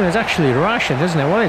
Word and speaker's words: Rashid: His name is actually Rashid, isn't it? Well, it's spelled Rashid. Rashid's with two E's, isn't it? R-A-S-H-E-E-D. But this is ID, which is Rashid, like Rashid Khan.